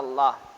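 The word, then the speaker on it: الله: lamjalalah makalam jalannya cicak dibaca tafkhim tafkhim itu tebal tafkhim itu ya bacaan tebal itu Oh ya bacanya tebal hatinya dibaca Allah gitu kali ya Allah gitu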